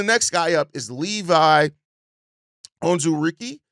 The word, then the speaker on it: Onwuzurike: And then the next guy up is Levi Onwuzurike. I believe is how you pronounce his last name.